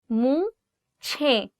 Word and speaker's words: मूछें: You can see there is the word che, and then you have he, and you're joining the two words che he, and it becomes ch, ch. Mooche.